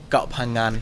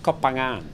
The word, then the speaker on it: Koh Phangan: It's a hard one to say. Yours is actually not that bad. Koh Phangan. For a person who can't say the NG vowel, yeah.